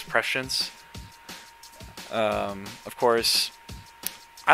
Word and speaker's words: Prescience: I had to look at the Google pronunciation after Ryan O'Malley commented on what it was, and he was right. It's Prescience.